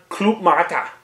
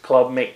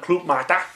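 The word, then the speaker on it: Club-Mate: you win it uh little info on CL mat cuz it's not pronounced Club mate it's a difficult one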